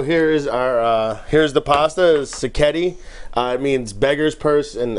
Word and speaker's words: sacchetti: This morning, this fine gentleman will be preparing, get ready, a spring vegetable sacchetti pasta. Sounds good. Yeah, did I pronounce it correctly?